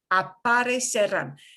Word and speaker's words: aparecerán: These future tenses are not hard to tell in reading, but to pronounce them winds up being a little bit difficult because instead of dropping that infinitive ending, you have to incorporate it. So while it might be easier for you to say, aparecer, aparecen, they appear. It's harder to pronounce aparecerán. You've got a whole extra syllable when you don't drop the infinitive ending.